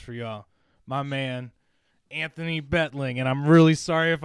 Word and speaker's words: Beitling: a special guest for y'all my man anthony betling and i'm really sorry if i mispronounced your last name man but how do i say your last name bro it's beetling but oh you're you're all good it's uh